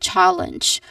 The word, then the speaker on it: challenge: Pronunciation wise we start with challenge which has two syllables. It starts with chal chal. So the this particular syllable is the stressed syllable. So there's an emphasis given to it.